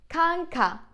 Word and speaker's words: kanka: So kanka, a as in bar or car, all right?